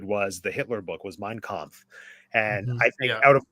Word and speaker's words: Mein Kampf: Mein Kampf, is that how you pronounce it?